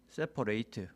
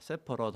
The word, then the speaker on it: separate: 자, 은행 계좌를 separate, 분리해야 됩니다. at가 eight 이렇게 발음이 되면 동사고요, 이렇게 발음이 되면 형용사입니다. separate 하면은 분리된, 이런 뜻이고 separate 하면은 분리하다, 이런 뜻입니다.